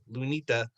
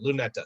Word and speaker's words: Luneta: of the process that is what makes sorry lunita uh luneta lunetta sorry luneta yes I was checking myself with the pronunciation and I messed it up completely yeah